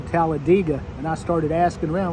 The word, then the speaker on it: Talladega: Talladega is actually pronounced Talladega it's not tallad dega like everybody says there's a e in there that's not pronounced with the a sound but everybody gets it wrong except the locals I used to work